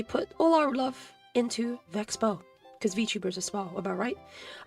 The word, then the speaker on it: VeXpo: And it wasn't until Kiara on stream said Vexbow did that we start shifting to the official pronunciation. Yeah. However, 3 days later, uh, Iron Mouse then said Vex Expo.